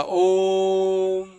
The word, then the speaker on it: ओम: हो जैसे हम बोलेंगे ओम है ना यह देखो ओम में जो ओ है उस ओ को लंबा करके बोला जाता ओम तो ओ जो है